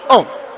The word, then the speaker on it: Om: So you could have seen A, U, A, U, So you have seen that there are three letters that form the syllable of Om. It is a unisyllable word, Om.